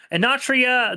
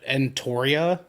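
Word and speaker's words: Enotria: Anatria, the last...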